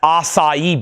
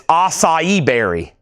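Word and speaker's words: açaí: just like that and everybody's like no that's acai berry and I was like what it's spelled just like that too. I said, "It's pronounced how?" They said, "It's acai."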